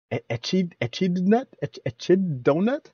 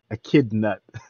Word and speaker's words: Echidnut: me i was like how do you pronounce that nut chit donut i was like but now i get it it's like a kid nuh a kid nut very clever hopefully a